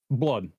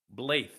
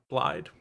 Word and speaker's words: Blaidd: how do you think that this would be pronounced? Blood. Nope. Damn. Blythe. Okay, cool. Yep. That's they say it's Blide multiple times in the game.